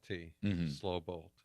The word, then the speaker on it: Slobolt: And it's spelled SLOBOLT, slow bolt.